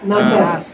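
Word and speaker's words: ناس: সূরা নাস। আপনারা সূরা নাসর পড়লে আসলে বুঝবেন না। অনেকে সূরা নাসর কোনটাকে বলে? আপনারা সোজা ভাষায় বলেন ইজা। সূরা ইজা। কিন্তু সূরা নাস।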